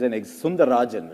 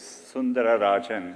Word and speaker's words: Sundararajan: One of the things I read about you, it said Sundar Pichai is Sundarajan, right? To give you the whole name. It actually was Sundararajan.